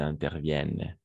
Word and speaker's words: interviennent: il est rare qu'ils interviennent excellent interviennent en effet interviennent mais ent la fin on ne prend jamais donc ça marche ent la fin mais en ne prononce jamais en effet il est